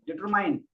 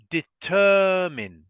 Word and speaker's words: determine: struggle to pronounce is determine okay so um this word the stress or the emphasis is on the second syllable so we say determin determin so one